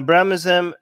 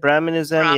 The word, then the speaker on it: Brahminism: like um wait uh brahmazem is that how you say it brahminism yeah it's like brahmanism is like